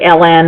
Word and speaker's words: ln: But some people say LN, and I say lawn, like your front lawn. That's how I pronounce it. Other people will say LN. Whatever you want is fine.